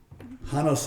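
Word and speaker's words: Janos: was from hanos Chihuahua hanos is spelled with a j j o n s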